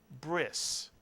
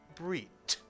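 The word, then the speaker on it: ברית: without a dagesh, and in Ashkenazic Hebrew, a tough without a dagesh is pronounced as an S sound. Whereas in Sephardic Hebrew, the ceremony is called a brit, because in Sephardic Hebrew, the tough without a dagesh is also pronounced as a t.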